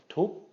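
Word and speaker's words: ทุบ: And so this is going to be pronounced again as a short, high tone. Tup, tup, tup.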